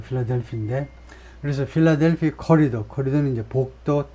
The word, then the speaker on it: 필라델피: 그 액센트는 뭐 똑같이 필라델피, 어만 없지. 그 발음은 거의 뭐 비슷하고요. 필라델피인데.